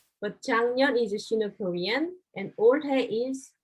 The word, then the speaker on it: 작년: 작년, Yes, it pronounced like 작년, 작년. 작년. Okay, 작년 is hard to pronounce, right?